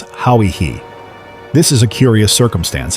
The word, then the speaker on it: Hawaii: The New Zealanders say their ancestors came from an island called Hawaii, or Oihi, as we have carelessly pronounced it. It is pronounced by its inhabitants as Hauihi.